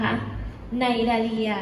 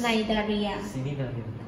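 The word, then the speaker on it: Cnidaria: คะ มัน อาจ วัน ไน ดา เรีย สิ่ง นี้ ได้ ดี อย่าง ไม่ ออก เสียง ตัว C แล้ว กู ก็ ไม่ เข้า ใจ เหมือน กัน น่า จะ ใส่ มา ทำไม เนี่ย ไม่ ออก เสียง นั้น เออ มัน มา จาก ภาษา นั้น มา จาก ภาษา ละติน เนี่ย พรุ่ง นี้ ใน จริย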